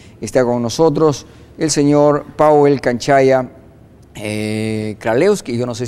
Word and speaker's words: Pawel: Esta noche está con nosotros el señor Powell Canchaya Kralewski, yo no sé si pronuncié bien, él es presidente de la Cámara Perú-Polonia. Ayúdeme, por favor, si pronuncié bien. ¿Cómo estás, Powell? ¿Verdad? Sí. Correcto.